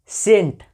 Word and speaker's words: scent: अब यहाँ पे देखिए सेंट, है ना, SCENT, तो एस के बाद देखिए सी आ रहा है, तो यहाँ पे भी आपका सी साइलेंट है है ना।